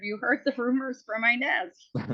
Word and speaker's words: Inez: knows this it's like how do you pronounce it Inez i n e z but you can pronounce it Inez or Inez she sings it Inez but my mom always calls it Inez but if you say